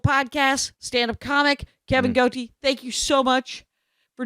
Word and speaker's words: Gootee: Kevin Gootee, and that's how you pronounce his name, Kevin Gootee, as he said, the thing I will never grow.